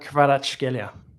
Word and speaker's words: Kvaratskhelia: Kvaratskhelia. Very good. That's probably the best pronunciation here.